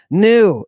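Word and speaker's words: ν: caligus give me the new look it looks like a v in English yes the new which makes an n Sound looks like a V that may be confusing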